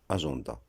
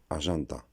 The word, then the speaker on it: agenda: On a pris l'habitude de prononcer agenda. Ce qu'il faut savoir, c'est que ce nom vient du latin, l'ancienne langue des Romains. Donc ici, on ne prononcera pas agenda, on prononcera agenda.